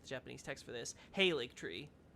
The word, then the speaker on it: Halig: Halig tree. So that's how it's pronounced? Gotcha. In-game, they say Halig tree.